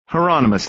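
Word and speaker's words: Hieronymus: throat detective hi Heron is that heronimus Bosch said rhymes with Anonymous heronimus then detective heronimus Bosch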